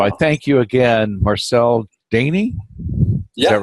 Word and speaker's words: Daane: So I thank you again, Marcel Daane. Is that right? Anything, it doesn't matter. Just I've learned it's actually, it's pronounced Daane, but I've heard so many versions.